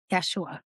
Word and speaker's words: Yeshua: Because people were lazy and didn't want to pronounce his real name. Yeshua.